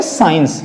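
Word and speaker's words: science: ठीक है, तो बच्चों से क्या बोलेंगे, साइंस। क्या बोलेंगे इसको हम, साइंस। यानी कि हमने देखा कि यहां पे हमने सी को प्रोनाउंसिएट नहीं करना है और हम सी का प्रोनाउंसिएट नहीं करेंगे।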